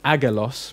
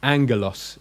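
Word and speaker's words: ἄγγελος: if we got so when you got to gamers together you pronounce it as in an NG so you might have seen the word that looks like it's pronounced to Agra loss meaning angel or messenger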